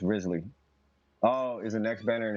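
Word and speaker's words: Wriothesley: hard save and pull it the answer radically pronounced rizzly oh is the next banner and he's the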